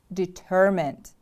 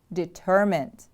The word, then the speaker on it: determined: to stop you determined the stress is on the second syllable determined determined repeat after me please